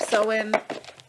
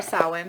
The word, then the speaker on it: Samhain: But, you know, the Sabbath of Sew-In, or Samhain, however you'd like to say that again, is one that's more, how do we want to say that?